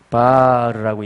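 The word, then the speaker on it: בר: 바르라고 읽는데 한번 해보실래요? 바르.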